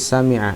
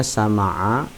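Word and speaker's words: سمع: Kalau kalian membacanya sama'a, sama'a ya, salah karena tidak suwazan dengan kata dasar awalnya yaitu sami'a.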